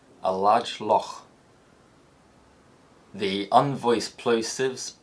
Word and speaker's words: loch: The dark L is used in all contexts, and the glottal fricative may be used in words of Gaelic origin that end CH. So a phrase like a large loch in Scotland is likely to be pronounced a large loch.